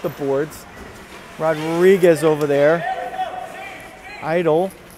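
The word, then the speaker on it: Eitel: Idle. Spelled E-I-T-E-L, not I-D-O-L, but pronunciations are relatively the same, especially for a Jersey guy.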